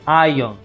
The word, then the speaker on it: iron: need two iron okay remember the r is silent so we say ion ion beyond it so you